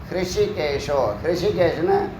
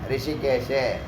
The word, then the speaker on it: ஹிருஷிகேஷ: அதை பல விதமாக உச்சரிக்கிறாங்க. ரிஷிகேஷு அப்படிலாம் உச்சரிக்கிறாங்க. ரிஷிகேஷில் ஹிருஷிகேஷ், ஹிருதயம்னு சொல்கிறோம்ல, ஹிருஷி, ஹா ஹா ஹி ஹி ஹூ ஹூ ஹ்ரு அப்படின்னு வரும். ஹிருதயம்னு சொல்லக்கூடிய ஹிரு. அப்புறம் புஷ்பம் சொல்லக்கூடிய ரெண்டாவது ஷா, புஷ்பம். ஷண்முகம், ஷ கொஞ்சம் அழுத்தி சொல்லணும்.